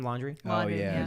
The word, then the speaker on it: Laundrie: Laundrie?